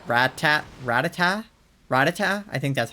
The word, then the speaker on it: Rattata: It's Ratata, like Ratata, run. So, I mean, that makes sense that it's like Ratata, but I don't know, Rattata was the way that I was pronouncing it, I think.